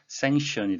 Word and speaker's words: sanction: sanction, 발음에 유의하셔야 되겠는데요. 발음 기호상으로도 K가 보여서 sanction이라고 해야 될 것 같은데 그렇지 않습니다. sanction이 되겠고요.